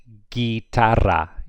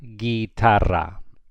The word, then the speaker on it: guitarra: You do not pronounce the U here. So this would be pronounced guitarra, guitarra.